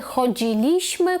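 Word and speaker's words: chodziliśmy: Тобто в минулому часі, в другій та першій особі множини ми наголос ставимо на третій склад з кінця.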